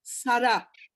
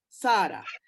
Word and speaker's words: Sara: And it is Sara, not Sarah. It is Sara and Esther. Okay, so the emphasis is on the second syllable.